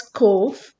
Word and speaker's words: Cobh: It is pronounced as Cobh as BH is sounded as V in Gaelic or Irish language.